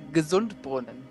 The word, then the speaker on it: Gesundbrunnen: It's actually Gesundbrunnen. Gesundbrunnen. Yeah. So gesund as in Gesundheit, but it's the same.